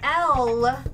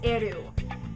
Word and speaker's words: L: saying you didn't pronounce l right you didn't pronounce ryuk right you didn't pronounce Yagami right um you know and so she goes you know L it's not L it's eru and so I proceed